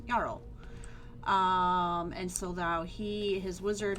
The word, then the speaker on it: Jarl: And then we went to talk to Jarl, and Jarl, that's how you spell it. Jarl, say it, it's Jarl.